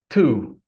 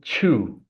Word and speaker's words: two: Most people say chew, but I would like to warn everybody that this is not a good pronunciation.